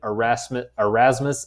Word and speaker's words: Erasmus: That is how you say those two names. Desiderius is his first name. Erasmus is his last name.